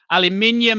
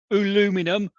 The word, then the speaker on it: aluminium: steel and Al minum aluminium it's pronounced not alumin not aluminum um my dear American friends